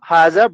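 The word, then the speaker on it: هذا: it is written as haza, but it is pronounced as like this, ha za.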